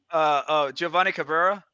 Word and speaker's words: Giovanni Cabrera: How you pronounce his name again? Giovanni Cabrera.